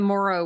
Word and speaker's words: Morrow: Oh, by the way, the name of the episode is the Morrow, which you know, I was saying it rhymes with sorrow, so it's uh you know, a very sort of um bittersweet episode.